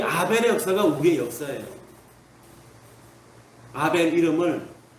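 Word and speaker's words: הֶבֶל: 맞아 죽는 아벨, 이 아벨의 역사가 우리의 역사예요. 아벨 이름을 뭐라고 합니까? 지난번에 말씀드렸더니 아벨이라고 하는 이분은 히브리어로 발음은 하벨입니다. 하벨.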